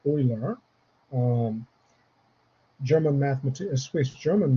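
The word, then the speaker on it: Euler: um concept of uh Oiler number uh is pronounced Oiler um German mathemat Swiss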